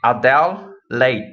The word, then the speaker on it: Adelaide: It Adele Late, right? Adele's a singer, the one that sing, I think she's famous. Everyone know her. So Adele and then plus Late, and you say it out very fast.